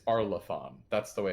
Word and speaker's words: Arlathan: No, they keep pronouncing it Arlathan. It's Arlathan.